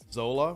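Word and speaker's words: Xola: Now, for those who are following him, you pronounced it Zola. Well, I mean, it's got an X in front of it, Dougie.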